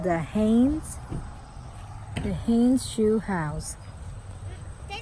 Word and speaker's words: Haines: It's called the Haines.